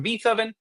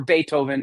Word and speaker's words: Beethoven: This is an anthology that celebrates the anniversary of Ludwig von Beethoven, or Beethoven, if you say it correctly.